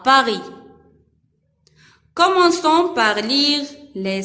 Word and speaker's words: Paris: dans le mot Paris. S à la fin ne se prononce pas. C'est une lettre muette.